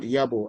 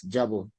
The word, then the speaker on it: Yabo: The place is called Yabo and not Jabo which I heard you pronounce.